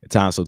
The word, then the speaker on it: Townsel: Townsend, TOWNSEL. Yeah, Dr.